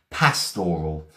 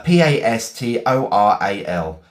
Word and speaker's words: pastoral: Pastoral. Um the painting depicts a pastoral scene. Uh p a s t o r a l. Pastoral scene, okay? Pa- stor- al. Pastoral, that's it.